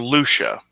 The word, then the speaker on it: Lucia: Yes, and or Lucia. That's how you pronounce that name.